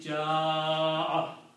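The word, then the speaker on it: جاء: So this hamza will cause this alif to pronounce long, and the pronunciation will be ja'a 4 to 6 times.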